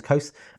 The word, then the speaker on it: Colse: Hi, my name's Kose, and that's spelled C-O-L-S-E, and it's kind of a shortened version of an anglicized name that my parents gave me.